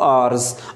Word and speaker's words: hours: So they were in Temargara kahenge for 2 hours. Hours, we will pronounce it hours. Na H is mute here.